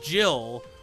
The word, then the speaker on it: Jihl: But spelling Jill like that is just dumb. It's still pronounced the same way, and it just confuses people.